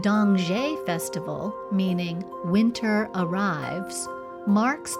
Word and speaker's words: Dongzhi: In China, the Dongzhi Festival, meaning ‘Winter Arrives,’ marks the solstice as a time of family reunion and balance.